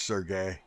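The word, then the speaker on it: Sergei: I'm saying it right tonight just so we all understand. Last night I called him Sergey so many times. It's Sergey.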